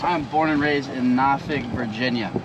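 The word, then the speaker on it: Norfolk: born and raised I'm born and raised in nafig Virginia nafig n a w fuk is how it's pronounced it's spelled like nor folk but like out of town I supposed to say nor folk but it's pronounced na okay guys we are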